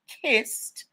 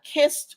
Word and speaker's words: Kist: Recently, a brand called KIST, Kissed, tried to file a trademark for sparkling water and soda products.